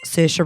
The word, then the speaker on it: Saoirse: Saoirse Ronan. Yeah, that's who I'm thinking of right now. She always goes, Saoirse rhymes with inertia.